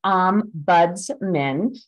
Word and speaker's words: Ombudsman: word so the name Ombudsman I'm going to pronounce um buds men uh really has well it comes from Old